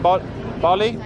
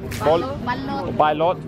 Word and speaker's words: balut: Bali? Balot.